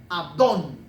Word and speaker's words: Abdón: creencia los abd modistas descendientes de abdón con acento en la o los abd modistas eran